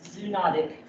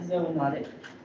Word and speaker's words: zoonotic: So next definition about types of infection is whether an infection is zoonotic. Or some people pronounce this zoonotic. I like zoonotic.